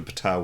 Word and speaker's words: Ptah: Most Egyptian translation things come through Greek, and you don't pronounce the P. But Ptah is just like direct from Egyptian, so the P is pronounced.